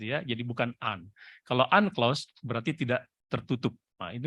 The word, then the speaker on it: UNCLOS: Law of the Sea kita sebut dengan Yun class atau uncloss kalau di Jakarta sering bacanya kalau di literatur asing Amerika anda akan menyebut biasa dengan lost convention seleranya masing-masing tapi kalau saya pribadi sering lebih senang menyebut dengan uncloss karena ini singkatan dari united nations gitu ya Jadi